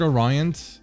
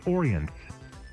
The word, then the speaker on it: Orient: My pronunciation is it is it is it the word Orion? I was not sure how to pronounce it. Give me a second. Is it orient like oriental?